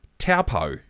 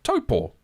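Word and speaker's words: Taupō: So Taupo instead of Taupo, Wakatane instead of Whakatane. The names were there, but they were still pronounced incorrectly.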